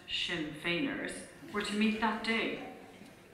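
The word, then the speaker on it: Sinn Féiners: lady there mentioned that the shin fers pronounced shin fainer were to meet that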